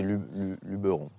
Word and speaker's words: Luberon: On ne dit pas Luberon? Non, alors non, parce que ça vient du provençal Luberon. Donc c'est Luberon. Alors effectivement, dans tout le reste de la France, on dit Luberon.